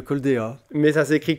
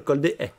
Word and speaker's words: Col des Haies: À Saulcieux, on dit le Col des A. Mais ça s'écrit Col des Haies. Donc oui. Ceux qui ne sont pas du secteur, on leur pardonne de dire le Col des Haies.